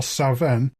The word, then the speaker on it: Samhain: given half a chance come sa in in Scotland where I believe it's pronounced more saen you have offerings left